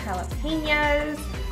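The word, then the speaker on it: jalapeños: Got avocado, black olives, jalapenos.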